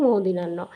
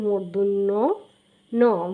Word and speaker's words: মূর্ধন্য ন: উচ্চারণ কেমন হয়ে থাকে আমরা এটাকে বলে থাকি মদিনা্য আসলে সাধারণত মদিনা্য নয় এর উচ্চারণ উচ্চারণটা হচ্ছে মূর্ধন্য ন মূর্ধন্য মূর্ধন্য মূর্ধন এটাকে